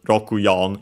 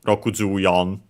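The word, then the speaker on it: ロクヨン: But yeah, so more likely than not, here actually pronounced as Rokuyon instead of Rokujuyon.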